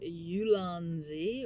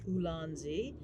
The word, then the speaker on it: Ulanzi: I'm also recording into my cell phone with the old Ulanzi or Ulanzi. I've heard it pronounced both ways.